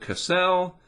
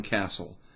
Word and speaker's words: Castle: say your last name was it cassell whatever and he said it's john castle just like a castle and he was tweeting